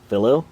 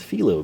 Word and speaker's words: Felo: start with this one I believe again fellow would be how you and I would probably want to pronounce it but we'll run with filo because I believe that this correct this is from